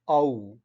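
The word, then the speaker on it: ஔ: the 12th one and it's ow and the pronunciation is it's like out or you uh owl owl owl so that kind of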